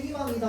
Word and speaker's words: 희망: 자음으로 시작하는 의는 반드시 뭘로 발음해야 된다고? 이로 발음해야 됩니다.